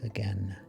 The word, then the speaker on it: again: why she says again she makes again rhyme with rain in her poems she